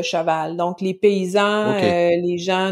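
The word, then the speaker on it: cheval: dire tu parles comme les personnes qui prononce joêl au lieu de chaval donc les paysans les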